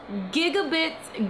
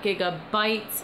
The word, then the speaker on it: Gigabits: So, with that being said, today's Gamer of the Week is Gigabits Gaming. Yes, gigabits, not gigabytes. It's spelled with an I.